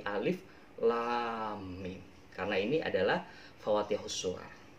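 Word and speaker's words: الم: Cara bacanya itu bukan alama, bukan, tapi alif lam mim.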